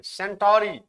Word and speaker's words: Centauri: Proxima, सेंचुरी नहीं लिखेंगे, सेंटोरी। सेंचुरी का स्पेलिंग आप जानते हैं, CNTURY होता है। ये क्या है? सेंटोरी।